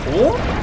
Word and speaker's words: Corps: Core? Oh, of course. Core spelt with P.